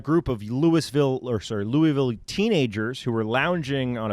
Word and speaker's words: Louisville: you guys saw that you got to say it like this louisville that's right louisville louisville